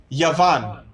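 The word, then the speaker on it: יון: end of a word and it would be pronounced yavan Y and yavan means Greece now what this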